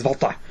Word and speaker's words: Walter: Versus, or Walter, I like to pronounce it as Volta.